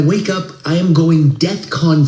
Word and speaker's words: DEFCON: not the point, but that's not how you say it. Pay attention. I know it's not the main issue here, I know that. But it's DEFCON 3.